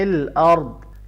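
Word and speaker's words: الْأَرْضِ: اس کو لمبا کریں، فی الارض، یہاں را کو ملاتے ہوئے موٹا کریں گے، اور فی الارض ہے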